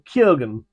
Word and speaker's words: Keoghan: starles the phenomenal Barry Keegan or Ken I think it is Keegan Keegan's the English pronunciation But Ken is I think the Irish something like that the